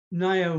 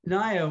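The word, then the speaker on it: Ngaio: like i guess um uh let's see um nayo marsh i think is very good uh her name her first name was edith and naya which is spelled n-g-a-i-o is a maori word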